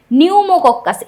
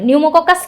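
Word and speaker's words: Pneumococcus: Silent একটা পি থাকবে নামের শুরুতে।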